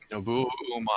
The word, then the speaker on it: Nobuo Uematsu: Nobuo Uematsu.